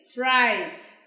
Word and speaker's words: fright: This is silent. You sound this one at the end. So the word is fright.